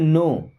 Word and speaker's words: know: देखिए, I means होता है मैं, यहाँ पे क्या होता है साइलेंट, जैसे क्या पढ़ते हैं नो।